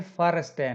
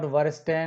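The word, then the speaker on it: verstehen: तो ये फर स्टेन, नॉट वर स्टेन, नॉट वीले, नॉट वीर.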